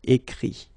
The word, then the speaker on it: écrit: Remember that phonetically this final T doesn't exist. Okay? So the sound will be only this I, écrit.